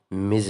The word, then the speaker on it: Ms: په داسې حالاتو کې میز استعمالیږي. پام ووي چې غلطه تلفظ نه کوي، دا میس نه دی، دا میز دی.